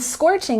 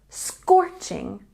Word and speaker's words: scorching: say it's scorching today and scorching has a stress on the first syllable scorching scorching and number five the